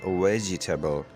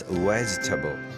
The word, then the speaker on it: vegetable: The word vegetable means plant, root, seed, pod that is used as food, and it should not be pronounced vegetable. It's vegetable.